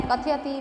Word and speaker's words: कथयति: अर्थात रेखांकित जो पूर्ण वर्ण है, कथयति, भाष्यते, जायते, भवति, तो जो संयुक्त हो या पूर्ण हो वह शुद्ध उच्चारण वहाँ पर बोलना अपेक्षित है, न कि हलंत रूप से बोलना। कथयति हो जाएगा कथयति, भाषते, भवति, चलति, भाषति।